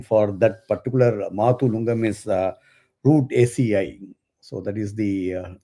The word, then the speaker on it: Rutaceae: It's called root ACI. That's how it's pronounced. It's root root ACI. So it's RUTACEAE. So that's how it's pronounced, root ACI.